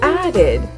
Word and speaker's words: added: The word added has an extra syllable for the sound ed on the end.